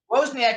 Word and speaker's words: Wozniak: described by apple co-founder steve how do you pronounce it wozniak yeah wozniak has the closest thing to steve jobs he's